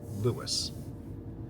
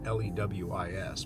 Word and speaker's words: Lewes: So, I have not left Lewis yet. And it's definitely pronounced Lewis. In fact, in some of the older documents, they spelled it L E W I S, but um is definitely pronounced Lewis.